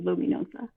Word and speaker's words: Luminoza: Hello, I'm the illustrator and author for The Witch of Luminoza.